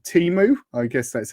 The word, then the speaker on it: Temu: On Instagram, I kept getting adverts from a site called Temu. I guess that's how you pronounce it.